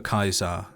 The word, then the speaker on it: Caesar: work for Caesar and the legion pronounces Caesar with a hard C then maybe khay is their word for kaisa taking that into consideration